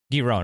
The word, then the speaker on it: Giron: And how do you pronounce his last name? Is it Giron or how do you say it? Yeah. Giron.